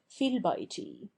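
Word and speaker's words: في البيت: Thus, fi al-bayti, in the house, which in Arabic is written F-I-Y-H-A-L-B-A-Y-T-I, and which we transliterate fi el-bayti is in poetry read fil-bayti, where we must remember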